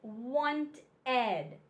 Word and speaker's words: wanted: the first one is wanted sounds like a short e with the D wanteded look just a